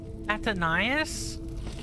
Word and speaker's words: Athénaïs: Athénaïs? Really? That's how you say it. Athénaïs.